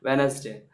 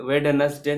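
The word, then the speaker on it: Wednesday: उसी तरह वैन, वेनसडे, वेड वेडनसडे नहीं बोलते हैं, वेनसडे क्या बोलते हैं वेनसडे।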